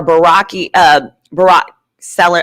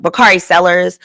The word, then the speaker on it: Bakari Sellers: Unless she has an agent or unless she is the go-to like the Angela Rise where like or Barack Seller, I'm saying his name wrong. Bakari Sellers.